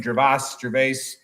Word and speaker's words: Gervais: Gervais.